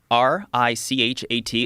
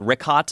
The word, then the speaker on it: Richat: Tell him Yeah, the Richat R I C H A T. It's worth mentioning that Yeah, in the first couple I just want to say it's Richat. I used to call it Ricat.